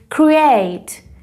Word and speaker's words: create: تلفظش رو ببینید، create. استرس در قسمت یا در سیلاب دوم هست، پس سیلاب دوم رو کشیده تر تلفظ میکنم.